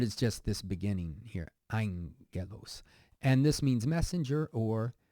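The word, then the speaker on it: ἄγγελος: it means praise and then here it's not agos but Angelos and I know we haven't come across this letter yet the important part is just this beginning here Angelos and this means messenger or we also know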